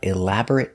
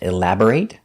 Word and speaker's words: elaborate: They put up elaborate decorations for Christmas. So remember, when you see this word, look closer. Sometimes it's pronounced elaborate like a verb, and sometimes it's pronounced elaborate for an adjective.